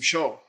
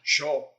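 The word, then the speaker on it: ཞོ: Okay, But say low tone, sho. Don't say sho. Sho means dice, and it means you want to play some, you want to lose some money. Okay? Don't say I'm hungry, I need some sho. Sho.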